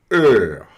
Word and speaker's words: heure: das pronúncias, é que o E mais U vira E. E. À tout à l'heure. Né? Vira heure. Heure.